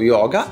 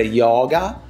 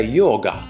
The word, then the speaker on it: yoga: della nostra pratica lo Yoga è la modalità di pronuncia la o in sanscrito è chiusa Perciò non dobbiamo dire yoga ma è yoga yoga chiusa la o